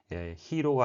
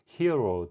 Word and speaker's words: hero: 바로 발음 때문인데요. 히로가 아니라 hero 또는 hero가 되겠고요.